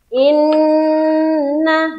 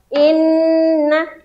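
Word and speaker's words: إنّ: Saya akan contohkan ya. Inna, jadi ditekan dan tahan. Inna, jangan tergesa-gesa, jangan inna, nggak boleh.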